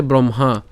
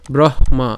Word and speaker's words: ব্রহ্মা: কি মা ঠিক আছে ব্রহ্মা কারণ এখানে আমাদেরকে যে এটাকে যদি আমরা ভাঙ্গি তাহলে কি পাই হ যুক্ত ম পাই তাহলে হ এর উচ্চারণটা আগে হচ্ছে ব্রহ এরপর হচ্ছে মা একই রকম ভাবে এখানে